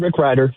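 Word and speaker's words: Rick Rieder: Yep, Rick Ryder.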